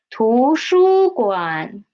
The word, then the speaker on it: 图书馆: Okay, first one is 图书馆.